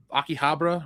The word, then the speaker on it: Akihabara: Akihabara, right? That's how you pronounce it.